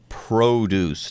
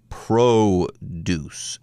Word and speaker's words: produce: word as a noun you can also use the word produce as a verb but you wouldn't pronounce it that way you'd say that you're producing something making that thing but at a